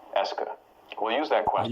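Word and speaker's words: est-ce que: Here, to just analyze it as being a single word that marks questions that's pronounced est que.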